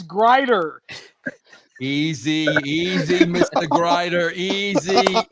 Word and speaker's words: Grider: good if you could pronounce my last name correctly it is Grier easy easy Mr Grier